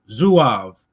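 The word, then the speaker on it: Zouaves: Some of the most famous Civil War units, and those probably with the most distinctive uniforms were the Zoavs, pronounced Zuav.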